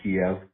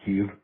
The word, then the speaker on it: Kyiv: Hey, remember when Russia went into Ukraine and we all learned that Kiev was really pronounced Kyiv?